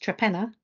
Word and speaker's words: Torpenhow: So it's a little village in Cumbria, which is spelt Torpenhow, but pronounced Trepenna, where I went on holiday about 3 weeks ago.